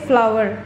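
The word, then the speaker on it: flour: यूके में आटे को प्रोनाउंस करते फ्लावर, फ्लोर नहीं प्रोनाउंस करते। हो सकता है कि किसी और एक्सेंट में उसको फ्लोर कहते हो, पर यहाँ पे हम फ्लावर ही कहते हैं।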